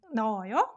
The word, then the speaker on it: 넣어요: When 히읗 is 받침 followed by a vowel sound, then 히읗 doesn't make any sound. So 너, right? 넣어요.